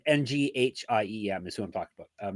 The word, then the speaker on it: Nghiem: Nghiem? Nghiem. Nghiem? Okay. That's definitely not it. No, Nghiem. Or is it like Win, where you don't say the G?